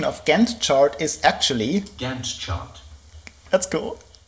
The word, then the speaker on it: Gantt: So I had to look it up, and the pronunciation of Gantt chart is actually Gantt chart.